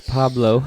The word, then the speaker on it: Pablo: I said Pablo. Did you? Okay, I thought you said Paulo. That's fine. Pablo Francisco? I forgot the L. Pablo. I forgot the B. Not forgot the B. Paulo. It's Pablo.